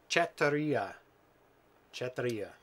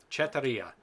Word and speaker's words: Chetiry: Chetiry. It's a Russian name. Chetiry.